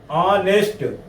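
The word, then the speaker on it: honest: अगर ए हनेस्ट शुरू होगा तो यहां पे एच साइलेंट होगा। क्या होगा? एच साइलेंट होगा। और जब साइलेंट होगा तो समझ जाएंगे कि बिल्कुल सीधी सी बात होनेस्ट यानी ऑनेस्ट यहां देखो हिंदी में ऑनेस्ट तो सीधी सी बात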